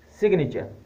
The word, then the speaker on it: signature: Even though G is before M, it is pronounced magnet. Another word is signature, signature, S-I-G-N-A-T-U-R-E.